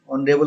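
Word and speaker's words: honorable: तो आप देखिए पहले ही ऑनरेबल है, ए ऑनरेबल लिखा हुआ है, ऑनरेबल के साथ हम एन का प्रयोग करते हैं क्योंकि प्रोनाउंसिएशन इसका वोवेल के जैसा है, इसलिए ए ऑनरेबल नहीं होकर के होता है एन ऑनरेबल, एन ऑनरेबल, एन ऑनरेबल।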